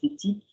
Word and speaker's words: Wittig: Et il y a Wittig, ou je vais prononcer à la française Wittig, Monique Wittig, une des auteurs qu'on va discuter aujourd'hui.